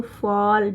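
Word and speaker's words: fall: इसको फॉल जब भी डबल एल साथ में होगा तो इसको एफ ए के बाद ए के बाद डबल एल होगा तो फॉल अ का साउंड आएगा।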